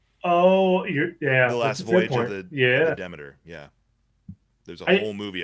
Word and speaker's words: Demeter: Yeah, last voyage of the Dementor. Justin, isn't Demeter? Demeter. Yeah. However you choose to pronounce it.